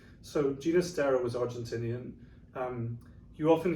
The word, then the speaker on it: Ginastera: hear his name pronounced hinistera with a with a typical um at the beginning but he actually preferred ginastera his father was from catalonia so the catalan pronunciation was with the g and um that's what